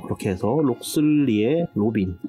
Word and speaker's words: Locksley: 마켓과는 상관없는 게임이 되겠습니다 로슬레이어 로빈이라는 한국어 발음으로 하자면 록슬리 되겠습니다 록슬리 로빈이라는 게임이 되겠죠